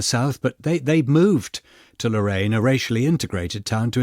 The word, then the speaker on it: Lorain: Is it pronounced Lorain? Lorain, yes, I believe Lorain, so.